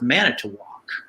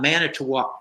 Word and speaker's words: Manitowoc: I was thinking it's going to have to be something where it rhymes with walk, you know, and that's going to have to be it.